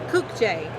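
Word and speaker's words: Kukje: have one difficult question how do i pronounce the word k-u-k-j-e cook j okay so we were right okay we were right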